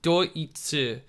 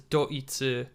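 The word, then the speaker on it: ドイツ: is actually germany but it's pronounced as doitsu because germany is uh deutschland so this is doitsu this over here is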